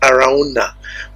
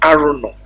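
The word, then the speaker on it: Araunah: jaite I used to call I used to pronounce it Aruna but right now I've met someone that made very clear that name is arono the Jus that's the same name the exact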